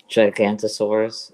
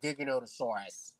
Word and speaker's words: Giganotosaurus: Hulk smash but uh you know sometimes someone pronounces it like uh gigantosaurus and I'm like that's not how it's spelled